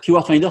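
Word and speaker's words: KWFinder: Keyword Finder, ça s'écrit KW Finder.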